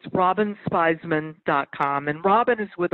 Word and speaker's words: Spizman: of course it's Robin Theismann comm and Robin is with a why why I that's when buzz the wanted a spell its spies men rhymes with Wiseman but no es Piz